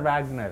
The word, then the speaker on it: Wagner: He is Professor Wagner. Professor Wagner, right. Wagner. Because A, in German language, is A, not right. A. Right. E is A. And German, Americans say Wag. Wagner.